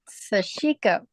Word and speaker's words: sashiko: Okay, now I watched a thing from a Japanese guy talking about sashiko. And that's how he pronounced it.